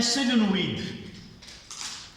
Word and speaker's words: solénoïde: Pour un solénoïde, Comment ça s'appelle? solénoïde, comment ça se prononce?